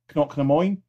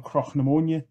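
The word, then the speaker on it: Cnoc na Mòine: to some Americans, and he pronounced it more like you guys said, Knock na Moin. We are saying Croch na Moin. So Croch na Moin. So for us, it's Croch na Moin.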